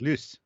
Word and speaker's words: Luce: Pronounced Luce.